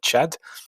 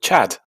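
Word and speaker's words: Tchad: the French involvement in, in French they call it Chad with a silent T, and we call it Chad.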